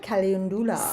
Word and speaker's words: Calendula: How do you pronounce that? Calendula. Calendula.